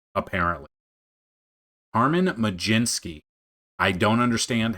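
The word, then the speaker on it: Carmen Mlodzinski: And I've been pronouncing it wrong. It's it's it's Carmen Majinski apparently. Carmen Majinski.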